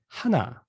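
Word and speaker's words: 한: Actually, one with the native Korean pronunciation is gonna be hana, hana, hana, right?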